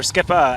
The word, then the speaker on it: Skipper: we are here with Joe Skipper or skippa as you uh pronounce uh he is rolling